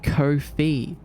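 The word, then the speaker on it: Ko-fi: But the company themselves said that it's pronounced kofi because it rhymes with no fee.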